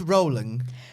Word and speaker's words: Rowling: Marone JK Rowling no I believe it's pronounced rolling rolling you could